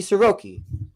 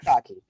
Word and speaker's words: Sasaki: Roki Soroki, if I say his name right. I saw Sasaki pitch live. Sasaki.